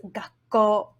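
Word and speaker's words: 学校: This kana is the first sound in the word, so we do not want to use the nga pronunciation. For this one, the correct pronunciation is gakko.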